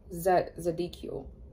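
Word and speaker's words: Zadkiel: Okay, we have Archangel Zadikiel. That's what you say. That's how you say it. Z-A-D-K-I-E-L. Zadikiel, or whatever.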